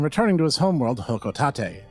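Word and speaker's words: Hocotate: to his home World hoko Tate and yes that is apparently how it's said given that later generation Smash Bros games confirmed this even though I will argue hotate Freight is much cooler sounding anyway putting that aside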